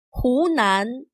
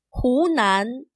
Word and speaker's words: 湖南: 河南, 湖南. Notice that he is not pronounced as he. This Chinese word for river sounds more like he. He, 河南. The Chinese word for lake sounds like hu. Hu, 湖南.